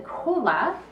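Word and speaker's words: cholla: very sweet now the the cola it's spelled c-h-o-l-l-a and most varieties have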